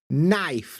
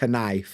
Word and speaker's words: knife: like Michael McIntyre said, hour, you know, and knife, not knife, and muscle, not muscle, you know what I mean?